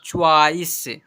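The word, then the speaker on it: choice: देखिए सी एच ओ आई सी ई इसे पढ़ेंगे चॉ्वाइस।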